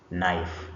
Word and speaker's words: knife: Like for example in this word knife you can see K which is coming first is not pronounced. So when you pronounce this word you're going to pronounce it as knife the way I have